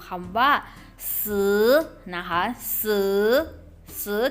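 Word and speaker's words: 十: ยก ตัว อย่าง มา ให้ ดู คำ ว่า ซื้อ นะ คะ ซื้อ ซื้อ ที่ แปล ว่า อะไร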